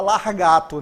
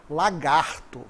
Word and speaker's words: lagarto: Não se fala largato, né? A pronúncia correta é lagarto.